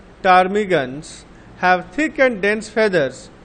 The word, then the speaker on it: ptarmigans: Birds living in polar regions such as penguins and ptarmigans, পিটা silent হবে এখানে, ptarmigans have thick and dense feathers on their bodies.